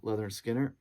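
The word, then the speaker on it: Lynyrd Skynyrd: is their debut album pronounced leather skinner features uh you know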